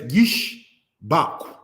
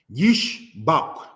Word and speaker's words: Ishbak: Ishbak is said as Yishbak. Yishbak. All right? Because, brothers and sisters, you have this shawah right here.